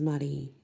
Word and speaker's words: Marie: And you know, my middle name is Marie, and it is pronounced the French way, and my dad named me the French way.